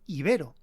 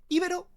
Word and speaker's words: ibero: que ambas lo son resulta que el término original procede del griego y en el griego el acento está en la i iberos Pero por otro lado los romanos adoptaron la misma palabra griega pero en latín la e tiene una pronunciación larga y al estar situada en la segunda sílaba I veros los romanos acentuaban este sonido iberos por lo que según